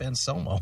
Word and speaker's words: Anselmo: Yes, the man, the legend, Philip Anselmo. Oh, say it right now.